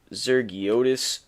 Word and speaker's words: Zergiotis: yukon um their quarterback jack zur zergiotis that's how you say it he's a sophomore um